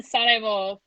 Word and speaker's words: Sarajevo: And so I was in Sarajevo for. By the way, that's how you say Sarajevo.